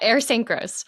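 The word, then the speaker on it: Ayers Saint Gross: How did I pronounce that correctly? Yeah, Ayer St. Gross.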